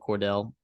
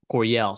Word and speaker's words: Coryell: And when you run a system like Sean Lewis, right, the Eric Cordell or Coydell, however you say that, Coryell, sorry, that's how you say it.